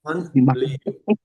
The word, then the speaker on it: Manliu: Yeah, but don't pronounce with the American accent. So it's not man, it's Manliu. Manliu.